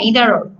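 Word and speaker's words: either: হুম, তোমরা যদি এখন তোমরা যদি ইদারকে যদি আইদার বলো সেটাও হবে, কিন্তু হচ্ছে এটা সঠিক উচ্চারণ সাধারণত ইদার। হ্যাঁ, ইদার বলে হয় এটাকে, বা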